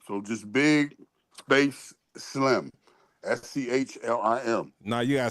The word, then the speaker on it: Schlim: SCHLIM.